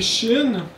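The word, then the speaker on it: שין: va l'expliquer donc ici c'est Chine euh ça s'écrit comme ça environ bah c'est le son ch ch c'est nombre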